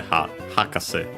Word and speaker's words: hakase: This one accented on the first syllable, just as a reminder. So the hakase, high, low, low. Yeah, then we have the possessive particle no, so yeah, of the professor.